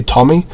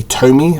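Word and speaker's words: Tomy: creators of this is timing or Tommy depending on how you pronounce I say Tommy some people say to me um that's mostly in the UK I don't know how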